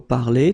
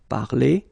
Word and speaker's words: parler: Okay, so parler, to talk, to speak, will give you parler. Okay, the good thing for the phonetical part is that it is the same. Parler, parler, you pronounce it the same.